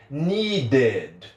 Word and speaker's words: needed: Esse ED eu vou pronunciar de fato como ED, do jeito que está escrito. Então a pronúncia é needed, needed, needed, ok? Então quando terminar com a letra D, o ED vai ter a pronúncia normal, pronúncia de ED, beleza?